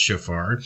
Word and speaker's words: shofar: Strong's Concordance, H7782, which is pronounced shofar, from H8231 in the original sense, incising a cornet as giving a clear sound, or a curved horn, a cornet, a trumpet.